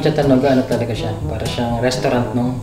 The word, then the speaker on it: Chatanoga: road V: And technically, Chatanoga itself is within the Sports Complex compound "Chatanoga" how do we pronounce that Cha-ta-NO-ga about the distance of the parking, it is the nearest one right?